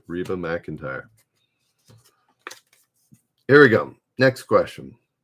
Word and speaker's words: McEntire: Her last name, I don't think anybody had it right, is spelt Mac, MC, and then entire, like the entire game or something.